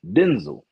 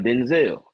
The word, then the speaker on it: Denzel: His name is pronounced Denzel, not Denzel. So all the people who put that extra on the back of it, you ran off with something.